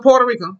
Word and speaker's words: Puerto Rico: Now, we can't say Puerto Rico. We can't say it anymore. We know it's pronounced what? Puerto Rico. Puerto Rico.